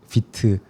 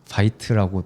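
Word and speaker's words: Vite: 요즘에 많이 쓰이는 도구가 비트 어 혹은 파이트라 잘못 발음되는 그 툴이 있는데 그 툴이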